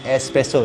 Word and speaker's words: espresso: So espresso, tak ada X. So itu salah satu ya. Untuk korang tahu menu dia, dia tak ada X.